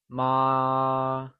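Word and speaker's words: 妈: Note that mother translates to ma, and it is pronounced using a high level tone, or the first tone.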